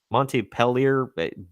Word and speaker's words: Montpellier: way, whose host detailed that at the Ubisoft Montpellier, blah. I can't pronounce anything super not basic today.